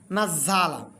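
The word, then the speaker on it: نَزَّلَ: সাথে নাস কেন পড়ব কারণ ঝা এর উপর তাসদি আছে আর তাজদের কাজটা হল দুইবার এজন্য দুইবার যখন উচ্চারণ করতে হবে তখন কিন্তু এভাবে সুন্দর করে পড়তে হবে যে নুন জবর না পড়ব সঙ্গে নাস জবর নাঝা লাম জবর নাজালা এইভাবে উচ্চারণ নাজলা নাজলা মজা আপনি চাইলে সুন্দর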